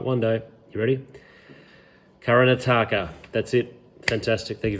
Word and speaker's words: Karnataka: It's actually got 70 million people in a southern state of, I'm going to get the pronunciation right, I'm going to get it right one day. You ready? Karnataka.